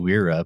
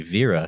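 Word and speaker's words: Wera: the screwdrivers uh we're we call them wira but it's actually vera because it's a german company if i'm not mistaken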